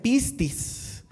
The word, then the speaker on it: pistis: Mis hermanos, eh la fe, la fe es una palabra griega que que se pronuncia pistis.